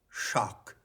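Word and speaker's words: śak: root meaning comes from the sanskrit root shock which is spelled s a k and that is the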